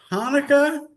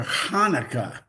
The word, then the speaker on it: Hanukkah: Is it Hanukkah or Hanukkah? Yeah. See, you got the H, it's Hanukkah, but then you've got the CH when they spell it that way, it's Hanukkah, like that.